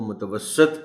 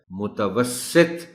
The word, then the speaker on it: متوسط: بھی لوگ اس کو متوسط پڑھ جاتے ہیں. درست تلفظ اس لفظ کا ہے متوسط، اور تے پر بھی جزم نہیں، جزم کے ساتھ پڑھ جاتے ہیں لوگ.